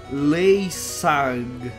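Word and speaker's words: linsang: C'est écrit, ben, parce que c'est un mot javanais. Javanais. Ça se prononce Leysag.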